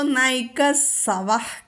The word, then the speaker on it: നൈകസ്: ഇത്തിരി ഉച്ചാരണം ശ്രദ്ധിക്കാനുള്ളതാണ്. ഏകോ നൈക, നൈക, നൈ ദന്ത്യം. അത് കഴിഞ്ഞിട്ട് സവഹ വന്നതുകൊണ്ട് സ ചൊല്ലണം, നൈകസ്.